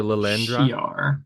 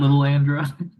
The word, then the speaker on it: Lilandra: has a triangle hat oh it's not L Andra I mean it's spelled the same but yes it's not they're an alien race